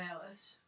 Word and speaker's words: Eilish: You want to announce it, because I can't pronounce the fucking name. It's Billie Eilish.